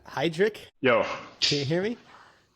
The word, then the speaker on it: Heidrich: I mean, in Germany, you would say Heidrich, but to make it easy in America, you can say Heidrich.